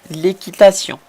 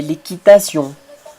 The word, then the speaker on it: équitation: Nous allons voir par exemple l'équitation. On prononce pareil qu'en espagnol, mais la prononciation et l'écriture, c'est différent. Je ne dis pas équitation, non. Je dis l'équitation. Vous voyez le son nasal à la fin.